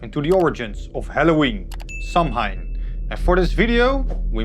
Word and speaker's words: Samhain: want to delve into the origins of Halloween samine and for this video we made five chapters samine or as it is pronounced in GIC sawin was the name of a festival that would